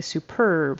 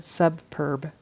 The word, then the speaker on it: superb: We say superb. Her superb private practice. And I heard subb. And I think she added like a another b in there. Subb. Subb instead of superb.